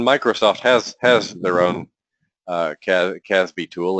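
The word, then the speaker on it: CASB: a couple of years old it's called it's pronounced caz B and and what a cloud access security broker does in Microsoft has has their own Caspi tool it's called cloud app security and what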